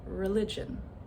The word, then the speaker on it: religion: How about the word religion? Religion. So, where's the schwa? It's that first syllable, religion, and it is spelled with an e.